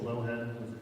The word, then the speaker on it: Loughead: My name is Loughead, is the pronunciation.